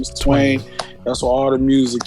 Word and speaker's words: Twain: it and then actually my stage name is twain but twine works because my my first name is and my family called me twine but my stage name is twain that's what all the music yeah on the